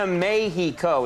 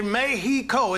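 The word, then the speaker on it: México: You switched from saying Mexico to Mayheo. Is that right? I say Mayheo. Is that weird, man? They pronounce the X like a like a he sound.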